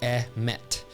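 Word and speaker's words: אמת: The Hebrew word here is pronounced emet.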